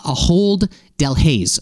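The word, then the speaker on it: Ahold Delhaize: Shop is owned by I believe believe it's pronounced uh aold Del Hayes which is a massive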